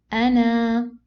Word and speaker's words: أنا: If I want to stop, okay, أنا. Okay, so this oblong zero works only or cancels the letter only if I am continuing my recitation.